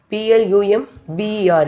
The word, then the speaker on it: plumber: Next one, plumber. P-L-U-M-B-E-R in spelling, but we are pronouncing as a plumber.